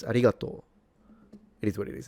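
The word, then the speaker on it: ありがとう: They do write it like that. Um. But they don't pronounce it. It's arigato.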